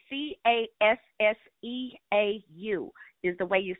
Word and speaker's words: Casseau: And even, oh, and his last name is Casseau, Casseau.